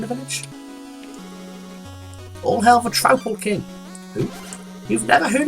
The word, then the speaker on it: Troupple: All hail the Troupple King. Who? You've never heard of the Troupple King? Half trout and half apple, pronounced like mouthful.